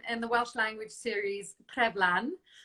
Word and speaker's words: Treflan: Your first recurring role came in the Welsh language series Treflan. Treflan.